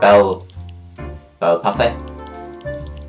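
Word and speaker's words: Bel Paese: But bel passe. That's how you pronounce it.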